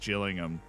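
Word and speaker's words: Gillingham: by the interest being just chillingham it's apparently how you say it I apologies it's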